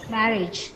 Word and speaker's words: marriage: Marriage. Marriage. No, the stress is on ma. So you say marriage.